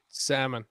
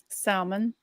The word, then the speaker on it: salmon: But let's put an L in a word and not use it.